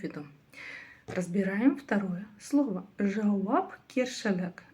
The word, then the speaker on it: жауапкершілік: Жауб кершалек. Жауб кершелек. Ответственность, собственно, наверно. Вы уже заметили, да, я его уже при произнесении, при произнесении при произношении разделила, так скажем, на два слова: жауаб и кершлек.